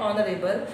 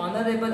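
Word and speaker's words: honourable: मिसाल के तौर पर एक लफ्ज वर्ड है ऑनरेबल, उसमें एच आता है, ये साइलेंट है, आगे ऑनरेबल अलिफ का साउंड दे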